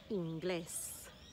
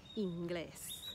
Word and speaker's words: inglés: Inglés. Inglés. The emphasis is on the last syllable because that's where the E is. Inglés.